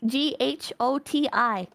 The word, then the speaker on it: ghoti: If the GH sound in enough is pronounced F, and the O in woman makes the short I sound, and the TI in nation is pronounced sh, then the word goatee is pronounced just like fish.